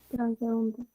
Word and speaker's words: transeúnte: Transeúnte. Transeúnte. Transeúnte. O sea, Es clave. suena un poquito más la U.